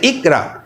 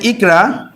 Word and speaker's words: ইকরা: কিন্তু যদি আমরা এটা না লিখে আমরা যদি লিখি এরকম করে ইকরা, তাহলে কিন্তু এর উচ্চারণটা হয়ে যায় ইকোরা, ইকোরা। তার মানে কয়ের উচ্চারণটা স্পষ্ট হতে হবে ক, ইকোরা। আমরা কিন্তু ইকোরা বলি না, বলি ইকরা, ইকরা যখন বলছি সেক্ষেত্রে